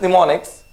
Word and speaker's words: mnemonics: word is mnemonics now in this mnemonics okay m is silent okay and for the